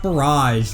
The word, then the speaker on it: Barrage: Next stop, Battle Rock 1, Battle Rock Barrage. Rhymes with garage, not carriage.